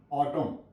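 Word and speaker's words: autumn: टी यू एम एन ऑटम ऑटम एन यहां प silent है एन की कोई य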